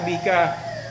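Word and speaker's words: beka: never forget what a bika really weighs because in fact it sounds the same as Rebecca, right? It's even the last two syllables, okay?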